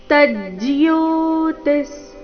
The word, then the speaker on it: ತಜ್ಜ್ಯೋತಿಃ: ಮಪಿ ರಸ್ವ ಜಿಯೋತಿ ಶಾಮಪಿ ತಜ್ಜಿಯೋತಿಸ್ ತ ನಂತರ ಅರ್ಧ ಜ ತಜ್ ಮುಂದೆ ಜಿಯೋತಿಸ್ ಜಿಯೋತಿ ವಿಸರ್ಗದ ಉಚ್ಚಾರಣೆ ಅರ್ಧ ಸ ರೀತಿ ತಜ್ಜಿಯೋತಿಸ್ ಜಿಯೋತಿಶಾಮಪಿ ತಜ್ಜಿಯೋ ತಮಸಪ್ಪ ಪರಮುಚ್ಚತೆ